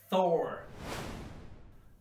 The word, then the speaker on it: Thor: should not see but tennis and of course Thor the God of Thunder Thor the God of